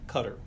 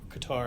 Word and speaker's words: Qatar: And Qatar, I should The rest of my life I will not know how to the correct pronunciation of of that country. We even asked them. And And there were And the agreement there was that it was sort of a hybrid of Cutter and Qatar that sounds a lot more like Qatar.